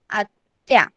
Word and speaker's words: आत्या: कैसे प्रोनाउंस करेंगे हम? AATYA, आत्या.